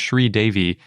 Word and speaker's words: sridevi: way because d-e-v-i where normally you might say it's like dev-eye or devi but since sri devi is a proper noun of something i think that's probably a better place a better way to pronounce it kind of like ichi and then say e chai or something even though a lot of times species names end in an i sound so sridevi with a capital d the